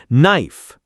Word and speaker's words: knife: Over or under pronouncing silent letters. Knife, not K-N-I-F-E.